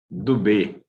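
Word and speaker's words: Dubeux: ¿Es Rafael Tubeus o Rafael Dubó? Si tem que conectar o micro. Dubé. Dubé, ótimo, então.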